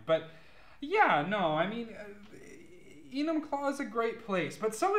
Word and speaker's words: Enumclaw: It's called Enumclaw.